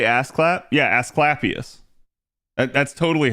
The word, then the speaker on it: Asclepius: Yeah, Asclepius.